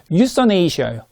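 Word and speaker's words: euthanasia: 예, 다시 한번 네이버 언니한테 물어봐고 다시 찾아봤는데 역시 유서네이시아예요. 유서네이시아. 혹시 가끔가다 제가 틀린 발음을 할 때가 있어갖고요.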